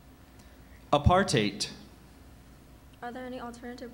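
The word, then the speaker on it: apartheid: r a i t a writer that's correct apartate are there any alternative pronunciations I have apartate aparte and aart heite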